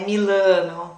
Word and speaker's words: Milano: gente tende a a deixar na salada essa pronúncia do lar né milano não é milano amy lanou mila começa assim